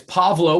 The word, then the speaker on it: Pavlo: So it's Pavlo with a V.